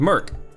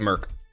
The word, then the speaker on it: mIRC: it's m-i-r-c Hina mirc we called it Merc I think people usually pronounce mirc or IRC but I called it Merck and so did everybody else in the military um so yeah uh